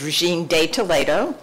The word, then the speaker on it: Regine de Toledo: My name is Regine de Toledo, so that's the Spanish pronunciation, and I reside at 309 St.